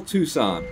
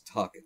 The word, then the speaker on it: Tucson: Spell Tucson, as in Tucson, Arizona. Spell it.